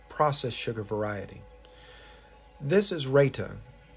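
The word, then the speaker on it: raita: more of the processed sugar variety this is Raa R AI t a I believe is how it's spelled um this is yogurt and as I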